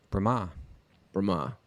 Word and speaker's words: Brahma: Brahma. Brahma. It's got a long A on the end.